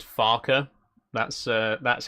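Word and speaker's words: Farquhar: We we we did just kind of abandon the passengers just outside Farqua. Never mind. Fun fact about Farqua, by the way. It's uh it's actually supposed to be pronounced Farer.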